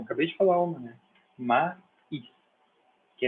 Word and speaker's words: maíz: Maíz, que é milho, né? Maíz, não é mais, é maíz.